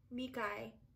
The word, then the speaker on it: Makai: take some more of the makai shade mikai that's how you say it mikai namakai mikai shade